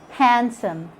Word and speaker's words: handsome: and fascinate letter d letter d is silent in some of the most common words that that we use every day like when you say wednesday can't hear the sound of the d sandwich handsome in all these words you can't hear the sound of the d it's silent now with letter e